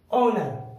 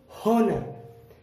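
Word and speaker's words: honor: ठीक उसी तरह ऑनर, ना कि होनर। होनर नहीं पढ़ना है, एच की आवाज नहीं निकालनी है, हम इसे पढ़ेंगे ऑनर।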